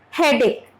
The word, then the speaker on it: headache: Now here, ache. H is silent here. Okay? H is silent. Headache.